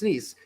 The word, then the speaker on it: Nice: Is it pronounced Nice? Yeah, it's Nice.